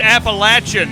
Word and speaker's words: Appalachian: know you know what like it's Appalachian right it is like I make sure I'm saying it correctly like throwing an Apple at you you know I like